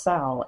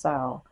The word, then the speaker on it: Samhain: You have Ostara, Mabon, Sal, I think that's how you pronounce it, or Samhain, but Samhain is pronounced Sal actually. It's spelled Samhain, but they say it's pronounced Sal.